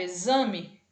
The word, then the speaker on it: exame: diferentes então por exemplo a letra x ela tem ela pode ter vários sons vários fonemas de acordo com a palavra em que ela vai ser empregada por exemplo na palavra exame o x vai ter o som de z então fonema que o